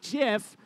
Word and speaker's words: GIF: blows gear it forward gif for short although some people may pronounce it jiff both start their climb